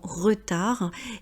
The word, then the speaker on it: retard: En français, généralement, on ne prononce pas la dernière consonne.